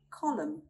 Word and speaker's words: column: Column, column.